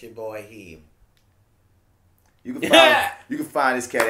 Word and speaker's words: Rahim: It's with H-I-M, not with the 2 E's. My dog get drove and they spell him like one of the Arab cats. Oh. Rahim. Wow. You hear me? It's Rahim. It's spelled Rahim. Yeah.